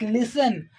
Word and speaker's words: listen: rule but it ha it is noticed in words like listen and whistle that the tall sound goes silent that the sound that